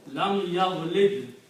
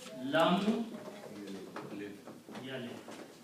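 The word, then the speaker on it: لم يلد: We have a word here, yavlid, lam yavlid. It's not easy to pronounce these things.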